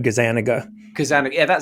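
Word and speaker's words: Gazzaniga: How do you pronounce his name? Gazaniga? I've always just said Gazaniga, Kazaniga.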